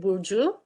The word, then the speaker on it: Burcu: and also maybe my name is hard to pronounce uh i am boujou and we did this rich research with a